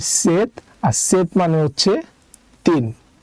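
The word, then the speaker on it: 셋: আর নিচে আছে আরেকটা সিউদ তো সিউদ যদি নিচে বসে তার উচ্চারণ হবে ত তাই এটার উচ্চারণ হবে সেট আর সেত মানে হচ্ছে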